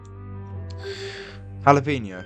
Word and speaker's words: jalapeño: Jalapeño.